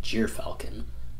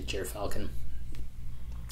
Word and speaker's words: gyrfalcon: maneuverability lastly we have the jeer falcon or jir falcon i don't know how other people pronounce it i say jeer falcon but it is the